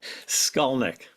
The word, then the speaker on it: Skolnik: Skolnick.